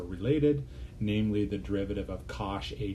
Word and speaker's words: cosh: you probably saw in calculus 2 hyperbolic cosine pronounce cosh of a t is is e to the